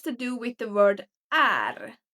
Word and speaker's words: är: The first one has to do with the word är. So usually when it's pronounced in a sentence, it's pronounced as e. E. Instead of saying jag är trött, you would say jag är trött.